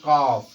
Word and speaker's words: calf: जैसे कह दिया जाए कॉफ, CALF, तो यहाँ एल के तुरंत बाद आपका क्या आया है? एफ आया है। तो इसलिए यहाँ पर एल आपका क्या हो जाएगा? साइलेंट हो जाएगा। और इसके बाद का उच्चारण काफ किया जाएगा।